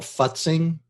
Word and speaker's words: futzing: you're creating graphic that you have to pronounce very carefully it's called futzing but sing okay f-u-t-z yeah and what it